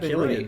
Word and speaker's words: Cillian: Do you say Cillian or Killian? Is it spelled with a C? Yeah. Cillian, probably. I don't know. Let's. I wonder if they say it. Let's look at this guy. Killian. Oh, yeah, shit, they say it Killian.